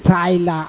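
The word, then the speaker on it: Tyla: Oh, Taylor is with a T-A. This one is Tyler. I doubt it's her real name. I think it's a stage name. Colored. Tyler. Yeah. Do you know how it's spelled? T-Y-L-A. Yeah, Tyler. That's Tyler, bro. Just because you said it with an bro, accent, it's Tyler. I'm telling you.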